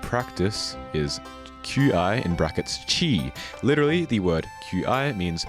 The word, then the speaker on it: Qi: I okay so yeah the reason why Mr Chi is pronounced Mr Chi and not Mr key or Mr Qi is because Mr Chi